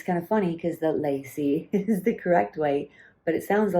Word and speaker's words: lai see: doing this video on lycee and she's like no don't say it like that it's wrong that's lazy pronunciation you should be saying it as lazy lacy lacey phone and i'm like i've